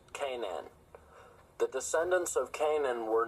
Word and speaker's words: Canaan: The name of the mountain comes from Canaan in the Bible and is pronounced Canaan.